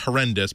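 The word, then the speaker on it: HoRNDIS: called hornis sorry pronounced it's pronounced horrendous but h o r n d i s uh and it implements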